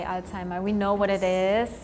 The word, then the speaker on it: Alzheimer: Or like in German we say Alzheimer because the Z like Alzheimer.